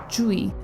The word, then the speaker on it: Tzuyu: video I will be using the Korean pronunciation of her name, "Jjeu-wi" as i am not trained in any dialect of Chinese. apparently her name is not pronounced "Tzuyu" at all like you would assume with the English letter spelling, so I'm sticking with the Korean.